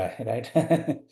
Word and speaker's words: हरी: Narayan हरि, right, वो हरि। और ये हरि, ये तो रंग हो गया, हरी छतरी, हरी साड़ी, हरी मिर्ची। तो जहाँ दीर्घ है, घी, वहाँ हमें लंबा पढ़ना है, लंबा उच्चारण करना है।